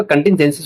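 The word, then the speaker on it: contingencies: कंटिंजेंसिस होगा। ज का उच्चारण करेंगे।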